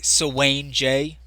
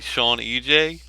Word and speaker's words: Sewanej: all right cool now am I saying your name wrong when I say Swain J I don't know I actually spelled my uh my username wrong I usually do uh my game gaming name is usually Sean EJ okay but uh I messed it up so